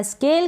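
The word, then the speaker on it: scale: इसको पढ़ा स्केल क्योंकि एससी के बाद में ए है, स्केल, और एल के लिए ल और ई का उच्चारण नहीं होगा, लास्ट में है, यानी इस एल को हम थोड़ा लॉन्ग प्रोनाउंस कर देंगे।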